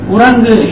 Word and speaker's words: குரங்கு: குரங்கு இந்த முதல் கூவை மாறி கடைசி கூவை நம்ம சொல்லுவது கிடையாது, அது கொஞ்சம் குறைந்து ஒலிக்கிறது.